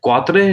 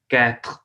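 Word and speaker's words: quatre: अब क्वात्रे नहीं पढ़ना है इसको क्योंकि आर इज गैन ई यहाँ पे स्टॉप करना है कैथ कैथ कैथ थ्वा थ्वा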